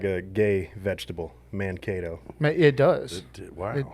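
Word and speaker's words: Mankato: So, it it's Minnesota State University, Manego. Close. You're so close. So close. Mano. Mano. Sounds kind of like a gay vegetable. Mano.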